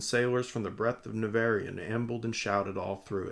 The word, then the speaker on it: Nevèrÿon: in the greatest of narian I'm just going to say it like narian that seems like the best so gorget grew up